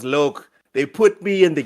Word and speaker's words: Locke: I liked the idea of what they had with Locke. What I didn't like is that Chief still had to do with Say it correctly. His name was Loke.